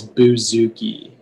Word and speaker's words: bouzouki: hi all right okay uh your word is buzuki could you repeat that uh the word is